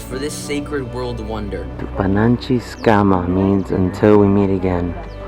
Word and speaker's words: Tupananchis Kama: Tupananchis Kama means until we meet again.